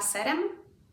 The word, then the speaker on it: z serem: The change in z almost makes it end up sounding like a double S. Kanapka z serem. Now, mind you, you do need to pronounce this extra S. Kanapka z serem? Yeah. Kanapka z serem. The S gets extended in a snake kind of way.